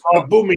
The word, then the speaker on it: Aubameyang: Terry, you actually say the right pronunciation. They're all people laugh at you, right? But that it's true. Is it? It's Aubameyang.